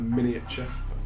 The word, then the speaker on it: miniature: A miniature. I like putting the extra syllable. in Yeah, there. it's incorrect, but nice. It's how Dalton would say it.